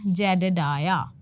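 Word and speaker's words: Jedediah: तो फिर ये कह रहा है नेम्स जेडेडाया, नेम इज़ जेडेडाया। इसका प्रोनाउंसिएशन क्या है, जेडेडाया, डाया, एच का हल्का फुल्का साउंड आ रहा है, ठीक है।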